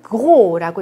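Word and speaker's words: gros: 아름다운이라는 뜻은 보라고 읽는 형용사고 이거는 고라고 읽어요. 끝에 자음 발음하지 않아요.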